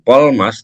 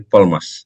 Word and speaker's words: Polmas: Bukan Polmas, tapi Polmas. Nah, harus bacanya langsung selesai gitu ya.